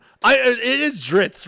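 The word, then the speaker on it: Drizzt: d i it is dritz right there's not an ey at the end of it yeah it's dritz how would you pronounce it I always call him driz I've heard him dritz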